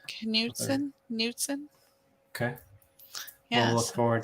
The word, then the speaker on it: Knudsen: Morgan Knudsen, I think is her, how you would pronounce her name. Knudsen.